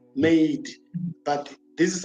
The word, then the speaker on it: MADET: every Thursday is called MADE, but this is how you spell it. It's MADET. It stands for Making a Difference in Education and Training. Now, why we don't say the T is so that we